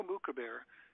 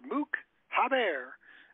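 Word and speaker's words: Moukhaiber: Go look up online. M-O-U-K-H-A-I-B-E-R. Mook Haber. That's the way we say it. He says it differently. He says it wrong.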